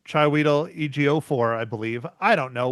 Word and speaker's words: Chiwetel Ejiofor: And then the guy that none of us can pronounce his name, Chiwetel Ejiofor, I believe. I don't know, whatever. Oh, I think you got it that time. Chiwetel Ejiofor.